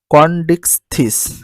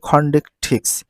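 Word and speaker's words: Chondrichthyes: তারপরে দেখো দ্বিতীয় শ্রেণী কন্ডিকথিস। তাহলে সঠিক উচ্চারণ হচ্ছে খন্ডিকথিস, খন্ডিকথিস।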